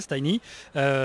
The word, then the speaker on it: Tiny: de rôle alors donc moi je le prononce à l'anglais tiny c'est donc qui un